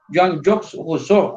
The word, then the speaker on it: Jean-Jacques Rousseau: Y el segundo, en español le decimos Juan Jacobo Rousseau, pero en realidad los nombres propios se tienen que pronunciar en su propia idioma. Jean-Jacques Rousseau, así me tienen que pronunciar.